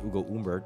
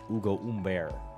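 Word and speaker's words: Ugo Humbert: uh French last names it's not Hugo umbert it's Ugo Umber ah yes fantastic yeah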